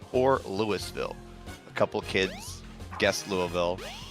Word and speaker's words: Louisville: Oh, Louisville.